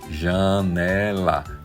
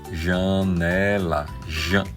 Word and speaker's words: janela: Por exemplo, palavra que tem la J, você vai a pronunciar como já, je, ji, jo, ju. Exemplo, janela, janela, janela.